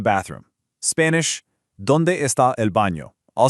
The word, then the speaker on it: baño: Also, pay attention to that little wavy line over the letter N. That is called a tilde, and it creates a very distinct nye sound. That's exactly what gives baño its unique and essential pronunciation.